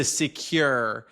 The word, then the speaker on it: CeQur: It's more a transition maybe, but currently I'm using the CeQur. Oh yeah. Did I pronounce that correctly? CeQur? It's the CeQur. CeQur, there you go.